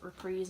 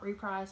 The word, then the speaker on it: reprise: My friend told me it's pronounced reprise and not reprise like I thought, so that's cool.